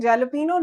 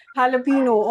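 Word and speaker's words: jalapeño: I just heard I think some students were still saying jalapeno. No, but you this is jalapeno. Although this is an English word, but this is like, you know, word loaned from Mexican Spanish.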